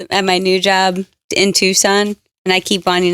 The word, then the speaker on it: Tucson: my new job in tucson and i keep wanting to say tuxen tuxen oh yeah with how it's spelled yeah yeah like true